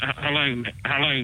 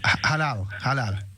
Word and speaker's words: Halal: as when they slaughter hello meat. I think I've said it wrong again. Halal.